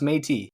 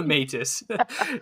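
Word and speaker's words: Métis: proud misus nation and uh yeah there it's pronounced matey it's it's not the matis and uh there is no Canadian uh I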